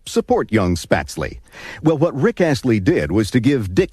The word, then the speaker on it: Rick Astley: Derek Ashley's Alter Ego his name properly pronounced is Rick Ashley Rick climbs three notches